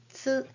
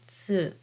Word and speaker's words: つ: And this is hiragana tsu as in bats and cats. But the shape of your mouth is just like the one with hiragana u and then say tsu.